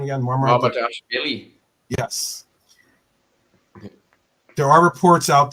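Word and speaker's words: Mamardashvili: Marmardashvili.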